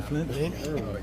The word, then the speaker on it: Flint: I left the tea off of your name when I pronounced it a few minutes ago. I was like Flynn. I mean Flint.